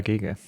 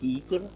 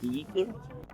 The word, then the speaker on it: Giger: One thing I did learn is how to pronounce HR Giger. Apparently, I was saying it wrong my entire life. My name is Geeker. HR Geeker.